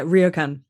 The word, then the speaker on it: ryokan: Now, probably don't know how to pronounce this correctly, but is it Ryokan? Pretty close, yeah, Ryokan.